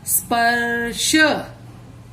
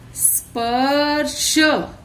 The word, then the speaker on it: स्पर्श: आधा स, प र रेफ, स्पर्श, स्पर्श।